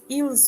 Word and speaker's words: ils: And finally, ils ont and elles ont. They have. ILS, il, sounds just like the singular form IL, but it means they